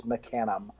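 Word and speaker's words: Mecanum: up in New England where it was always Meccan um when I moved out to Indiana I was very quickly corrected that it's mecanim and there is no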